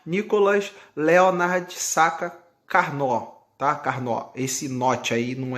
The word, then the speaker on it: Carnot: futacs aqui o nicolas leonard sata carnô tá carne ó esse note aí não é carnot francesa carne ó com suas camadas eu acho